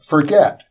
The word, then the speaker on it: Forget: a spiritual teacher, Alain Forget. Yeah, he wouldn't like that. His name is Forget. He's French. So you have to pronounce.